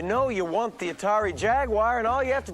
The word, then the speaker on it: Jaguar: is really driving home the dichotomy of people pronoun Jaguar as if it has an ey in it and the people who don't at least we don't have the British pronunciation going on here which always drives me up the wall G the Jaguar Jaguar